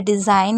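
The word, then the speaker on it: design: rules याद होना चाहिए अगर कभी भी जी एन के बाद आपको आई दिखे तो आई को आई पढ़िए कभी भी उसको ई नहीं पढ़ना है जैसे डिजाइन तो डी ई को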